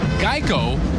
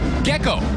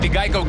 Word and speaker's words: Geico: and did you know the company's name Geico was often mispronounced Gekko and that's how the